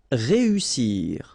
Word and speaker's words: réussir: Then éviter, établir, réussir. Okay, so here, vowel, second vowel here, and then double S. So in that case, you've got to pronounce it like a real strong S. S. Réussir, réussir.